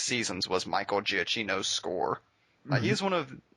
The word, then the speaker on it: Giacchino: The Michael Giacchino score definitely completed that moment. Could you say his last name again for me? Giacchino.